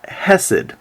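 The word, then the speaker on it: חֶסֶד: for loyal love in Hebrew the word is pronounced hessed and if you look it up in lexicons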